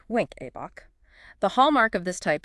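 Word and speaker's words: Wenckebach: Second degree AV block type I also commonly known as Mobitz I or Winkabok pronounced wink Abbach.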